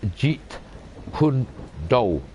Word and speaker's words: Jeet Kune Do: the intercepting fist that translates is pronounced in cantonese by the way the word jeet kune do with jackie chan listen